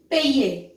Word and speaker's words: payer: See, every verb has YER. So any verb which ends with YER, the sound will be ye, like that. Payer, envoyer, nettoyer, like that.